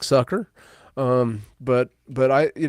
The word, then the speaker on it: Sucher: uh but you know the correct pronunciation Michael is suker I get it yeah